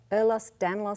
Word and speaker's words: Ehlers-Danlos: How do you pronounce that? Ehlers-Danlos syndrome, commonly known as EDS.